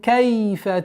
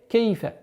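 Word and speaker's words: كيف: Нужно обращать внимание, что фатха над буквой каф не должно переходить в звук ке. Кейфа. Нет. Кайфа.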